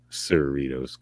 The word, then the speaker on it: Cerritos: yeah it's a lot cerritos what's the point tonight doritos like cerritos come on yeah um